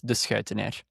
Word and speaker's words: Deceuninck: Yeah, I'll just slightly correct that pronunciation. It's Deceuninck.